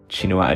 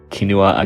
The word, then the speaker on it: Chinua: I did read Things Fall Apart in high school by Chinua Achebe, who I used to pronounce Kinua Achebe until I Googled him on this channel to figure out how to pronounce it.